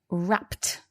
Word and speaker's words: wrapped: and now we've got wrapped and so the reason for this is because the p sound at the end of rap it needs us to make a t sound now to be honest